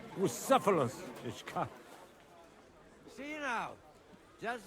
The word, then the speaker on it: Bucephalus: What kind of name is Bucephilus anyway? It's pronounced Bucephalus, Ishka.